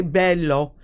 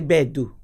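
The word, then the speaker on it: beddu: You don't say bello. You say bedu. Yeah. So it's like a little rougher.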